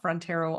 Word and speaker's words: Frontiero: frontero on Instagram um my last name is spelled like the great Frontier with an O on the end I've been saying that